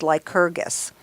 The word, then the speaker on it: Lycurgus: Well, I got to this guy, and this is how I think you pronounce his name. It's Lycurgus.